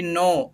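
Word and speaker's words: know: simply बोल डॉग आई नो आई नो क्या पढ़ना है इसको नो पढ़ना है के साइलेंट होता है मैंने पिछले क्लास में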